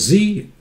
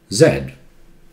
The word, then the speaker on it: Z: to professional clear pronunciation little z american says z british say zed okay if you move